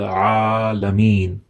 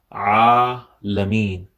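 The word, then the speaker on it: العالمين: Alameen. So has to be from the middle of the throat because it's Ain, not Alif. So Alameen is wrong.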